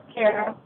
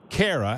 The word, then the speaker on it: Kara: Cara or Kara is up next, and which is the proper pronunciation? Kara. Kara.